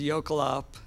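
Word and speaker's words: jökulhlaup: been throwing out here which is yop is how I pronounce it I'm sure that's not exactly how someone from Iceland would pronounce it but basically this term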